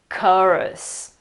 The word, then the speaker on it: chorus: So we pronounce it something like chorus, right? Yeah, you're guilty. I can see your face. But the right pronunciation is actually chorus. Chorus.